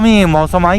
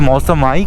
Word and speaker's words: Mawsmai: और seven sister waterfall जो है वो ज़्यादा दूर नहीं, मौसमाई केव्स है। मौसमी केव्स नहीं, मैं पहले मौसमी केव्स प्रोनाउंस करता था, बट फिर मुझे पता चला दैट इज़ मौसमाई केव्स।